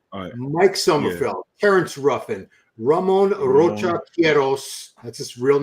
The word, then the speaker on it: Ramon: I got Ramon, Hamon. They don't pronounce R's in Brazil, right? Hamon and I think his actually is Ramon. Yeah, they don't. Hamon would be with a J.